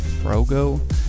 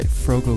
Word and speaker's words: Froggo: name wrong I guess first I said bro go and then I said frog Oh apparently it's actually fro go yellow so I apologize man